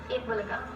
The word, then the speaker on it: Eat Bulaga: It's all part of a program called Eat Bulaga, if I'm pronouncing that right. Eat Bulaga, yes.